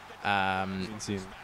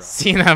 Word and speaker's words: Cena: Cena. You said it wrong. Cena, my bad.